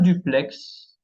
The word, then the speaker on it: duplex: La lettre X qui se prononce, tenemos un duplex.